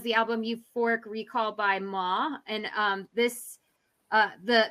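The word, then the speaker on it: MOAA: album euphoric recall by ma and um this uh the the artist is um all caps m-o-a-a um but i think it's pronounced ma and um the artist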